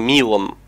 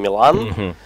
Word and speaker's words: Милан: е это его имя Да он серб и в Сербии Ну как бы имена и вообще все слова в принципе с ударением на первую букву как ты видишь у него весь ник написан большими буквами а и одна только маленькой и он Милан а не Милан То есть это его